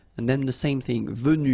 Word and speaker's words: venue: then the same thing, venu, you don't pronounce this final e.